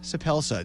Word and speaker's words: Suppelsa: are being joined in studio tonight by soup Elsa did i pronounce that correctly yes that was great welcome